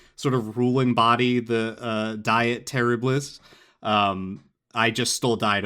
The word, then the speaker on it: Diet: They're like, surely it's pronounced diet or something, and I was like, no, it really is just like the word you know and love, diet.